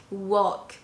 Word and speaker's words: walk: word and not his i'm not pronouncing the l in a walk walk the ellis island and